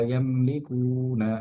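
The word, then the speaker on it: يملكون: ওয়ামা বাইনাহুমার রহমানি লা ইয়ামলিকুনা, লামে এক আলিফ টান হবে জবরের বাম পাশে খালি আলিফ আসার কারণে।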